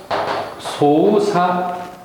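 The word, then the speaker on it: 操作: 때는 작자죠 작동 동 조작일 때 작자가 사로 발음이 난다는 점 보통이 각은 작물할 때 사크부츠 장문할 땐 사크분 이런 식으로 사크로 발음이 나는데 여기에선 특별하게 크가 없어져 버렸죠.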